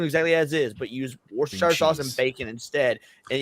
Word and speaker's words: Worcestershire: But instead of using sugar and crab meat, you just use Worcestershire sauce and bacon, and you do crab rangoon exactly as is, but use Worcestershire sauce and bacon instead.